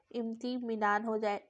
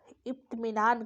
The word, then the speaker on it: इत्मीनान: इम्तिमान, तारीख, दया, दिल लगी, तो इसमें इम्तिमिनान हो जाएगा। इत्मीनान कहते हैं इसको, थोड़ा सा ऑकवर्ड वर्ड है। इत्मीनान इसका उच्चारण एक्चुअल में होगा इत्मीनान, कहते हैं ना, अरे ठहर जाओ, इत्मीनान से चलते हैं।